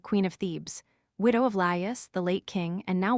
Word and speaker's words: Laïus: Laïus, pronounced as 3 syllables, Laïus, the last king of Thebes before Oedipus.